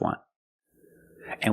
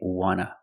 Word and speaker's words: want to: is an NT, so we don't pronounce the T and we say wanna, wanna. I just want to eat. Want to or want to, you can pronounce it wanta or wanna. Both pronunciations are correct.